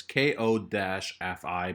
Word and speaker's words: Ko-fi: thoughts about it so their website is ko-fi but i'm guessing it's pronounced like coffee it's a play on words uh fun your passions